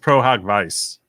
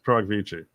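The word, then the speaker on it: pro hac vice: It's not pronounced pro hoc vice. It's pro hoc vici.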